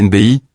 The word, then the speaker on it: Nebchi: Slimane Nebchi, prononcé Slimane Nbi, né le 13 octobre